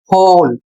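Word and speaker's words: whole: अगला शब्द है होल, इसमें भी W साइलेंट है।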